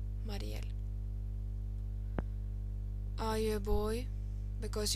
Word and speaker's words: Mariell: And then from Musiful, how to pronounce Marielle. Marielle. Marielle. Marielle.